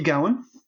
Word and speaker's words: Gowen: we say so first of all did i pronounce your last name correctly yeah matthew gowan awesome i'm i'm delighted about that your your